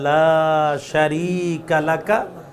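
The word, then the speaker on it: لا شريك لك: উচ্চারণটা যদি শুদ্ধ হয়, লব্বাইক আল্লাহুম্মা লব্বাইক, লব্বাইকা লা শারীকা লাকা লব্বাইক, ইন্নাল হামদা ওয়ান নি'মাতা লাকা ওয়াল মুলক লা শারীকা লাক। শারীক টান হবে, লা শারীকা লাক।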